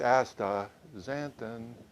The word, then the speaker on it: astaxanthin: couldn't figure it out can but uh it's ASA zanton if you remember that it's real easy to